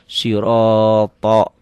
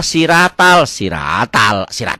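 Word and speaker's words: صراط: Pakai Latin akan salah siratal dari mana ya? Ini emang tulisannya begini. Makanya kalau pakai Latin tanpa guru bacanya salah total, salah fatal. Sodnya ini pakai H ya, pakai H. Siro ini pakai O karena huruf berbunyi O. Siro ini pakai TH juga, ini pakai O. Jadi sirotol ini banyak yang berubahnya ya.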